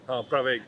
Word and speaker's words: Pravaig: How to pronounce the name? I guess it's Praveg? Praveg.